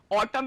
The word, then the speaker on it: autumn: Autumn में n silent होता है, इसको autumn पढ़ते हैं. लिखते क्या है स्पेलिंग? AUTUMN, लेकिन पढ़ते autumn में.